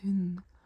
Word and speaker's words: hund: Also, like the word dog is hund, but it's written H-U-N-D, but we don't pronounce the D.